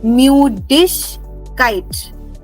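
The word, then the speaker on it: Müdigkeit: Mudish kite. Remember, dig will not be dig, but dish.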